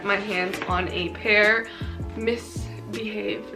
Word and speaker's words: MISBHV: Misbehave, not Misbehave, or whatever the fuck I said, but I have no excuses.